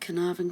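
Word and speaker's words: Caernarfon: and we've got some collage and we've got carnarvon Castle that's how you say it carnarvon castle that's where he was made Prince of Wales and that was on the 1st of July 1969.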